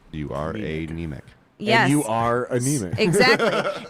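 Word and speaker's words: Niemiec: You are a neemic.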